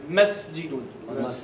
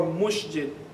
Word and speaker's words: مسجد: Okay, this is the proper way to say in Arabic. مسجد. Okay, and not masjidun or mushjid or however way you pronounce it.